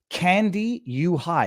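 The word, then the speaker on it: Kandiyohi: of Minnesota, County of Candy U High. Has anybody made that joke yet? Like the county is literally called Candy U High, K-A-N-D-I. It's not spelled the same way. Y-O-H-I.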